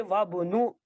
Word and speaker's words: وابن: And we don't pronounce this, and we connect this waw to ba. We say wabnu, wabnu, wabnu Hamidin fil jamiati, and the son of Hamid is in university.